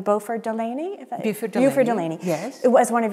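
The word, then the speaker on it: Beauford Delaney: one of your references you cite, I want to get his name in here, am I pronouncing it correctly? Buford Delaney.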